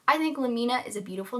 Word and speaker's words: Lamina: really is just that why would you call her Lamina when her name is so clearly in reference to laminate, as in laminate flooring, the synthetic composite wood flooring that you'll often see in like newly built homes because nobody puts in hardwoods anymore. In this way, it wouldn't be lamina, it would be lamina.